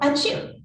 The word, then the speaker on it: Achoo: names the first was called achoo which when properly pronounced sounds very much like a human sneeze the other's name was